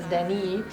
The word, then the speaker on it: Deni: I love to pronounce his name in Spanish. It's Deni.